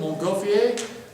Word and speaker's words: Montgolfier: Back there on the bottom of page 17, you actually have a picture of the Montgolfier, French pronunciation, Montgolfier experiments.